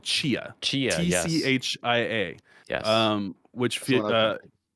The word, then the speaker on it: Tchia: So I'm gonna potentially butcher the name and assume that it's a silent T at the beginning, but I want to say it was called Chia.